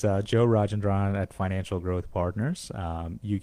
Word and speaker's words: Rajendran: but listen, I had a hard time even pronouncing your name. I know. Stop the madness. So again, it's Joe Rajendran at Financial Growth Partners.